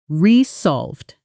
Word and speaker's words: resolve: The stress is on the second syllable. Resolved.